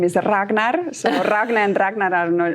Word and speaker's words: Ragne: with uh so they always start are you range i'm like i am ragna that you know that's how i'm going to pronounce it from now on exactly perfect and